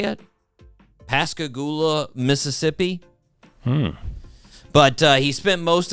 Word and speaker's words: Pascagoula: Yes, born on December 25th, 1946 in Pascagoula, I think is how you say it. Pascagoula, Mississippi.